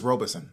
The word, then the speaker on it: Robison: I'm going to try not to say Robinson. It's Robison because it's spelled Rob is on. Like it's really Robison, but people get it confused with Robinson.